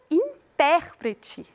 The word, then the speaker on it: intérprete: pensar sobre o texto e quando eu digo intérprete eu estou falando do nosso intérprete de libras ou da nossa